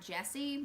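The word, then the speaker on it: Gyasi: When I looked this up online, they pronounced it Jesse, but it's not exactly spelled like that.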